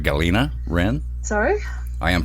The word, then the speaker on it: Galina: We're going to call Galina Rin of Death Inglorious.